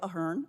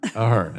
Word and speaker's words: Ahern: I am Ahern. Ahern, okay.